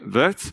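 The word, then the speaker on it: Wirth: say you can call me by my name vets or call my but by my value worth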